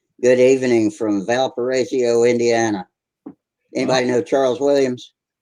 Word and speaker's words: Valparaiso: Yeah, Valparaiso. Oh, I Yeah. see. I've been pronouncing it wrong.